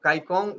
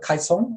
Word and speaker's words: Kaicong: from my uh from in chinese it's called kaisong um the c is more like a ts so it's yeah